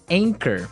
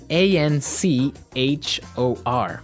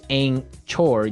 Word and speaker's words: anchor: Anchor. Another boat word here. Anchor. Anchor. Anchor. Now, it's spelled a n c h o r, right? But you don't pronounce the ch as you normally would, right?